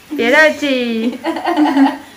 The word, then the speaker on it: pierogi: Tonight we're gonna try pierogi. Is it pronounced that way? No. Oh. How is it pronounced? Pierogi. Oh, almost. Pierogi. Pierogi. Yeah, pierogi.